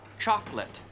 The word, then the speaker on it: chocolate: No, Rosa, in English we say chocolate. We don't say chocolate. Two syllables, yeah. Chocolate, chocolate, chocolate.